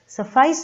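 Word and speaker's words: suffice: सफाइस इसका pronunciation है, एक बार फिर से ध्यान दें, सफाइस यानी बी सफिशिएंट यानी पूरा पड़ना या पूरा होना।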